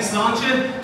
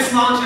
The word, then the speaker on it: Sláinte: Now, if you have trouble pronouncing Sláinte, just say it's a lawn chair really fast. It's a lawn chair, all right? So, on three, we're going to shout Sláinte as loud as we